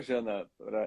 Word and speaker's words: Jana: Até o Jana, é o Jana, né? A pronúncia correta, né?